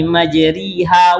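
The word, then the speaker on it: مجريها: Kalau baca Qala rakabu fiha bismillahi majriha wa mursaha. Salah bacanya, Pak. Ikulah namanya. Apa namanya, Ustaz? Apa namanya? Imalah. Majriha. Dia dibaca tidak patah dan tidak pula kasrah. Majriha dibaca Pak.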